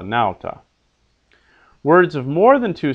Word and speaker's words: nauta: Words of two syllables are accented on the first syllable. Silva, nauta. Not silva or nauta, but silva, nauta.